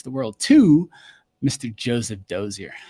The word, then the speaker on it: Dozier: during for my wedding my grandfather um said doer and my dad um told me that my last name is French German which I never knew and so my grandfather pronounced it correctly but I've always heard doer but it's it is doer so that's hilarious dude